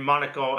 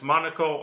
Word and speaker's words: Monaco: beautiful day uh in Monaco and uh and depending on where you're from it's Monaco or Monaco a Monaco just different pronunciations most of us say Monaco and um so it's